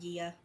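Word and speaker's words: Gaia: Gia or Mother Earth that one I did look up it's pronounced Gia um and she was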